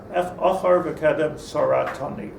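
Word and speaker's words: אחור וקדם צרתני: Achar v'kedem saratani is the proper pronunciation.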